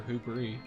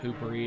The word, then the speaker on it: hubris: Seriously, is it hubris or hubris? Hubris. Hubris. Yes. Like, oh, okay. Hubris. I could swear when I first learned the word in school, like, the teacher pronounced it like hoopery, and I was like, yeah, it does look